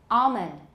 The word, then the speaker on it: almond: But palm almond can either be palm almond or palm almond. I tend to have something of a dark L.